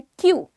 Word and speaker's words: queue: इसकी स्पेलिंग ध्यान से देखो। कई बार पहले तो ये होता था, मैं ये लिख के सर्च किया करती हूँ, छोटी थी ऑफ कोर्स, तब मुझे लगता था कि क्यू की स्पेलिंग ये होनी चाहिए, लेकिन इट इज QUEUE, ठीक है। सो क्यू इज द प्रोनाउंसिएशन।